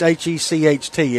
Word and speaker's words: Hecht: I always thought it was Hecht City, but I really don't know. I don't know how to pronounce it. It's Hecht, isn't it?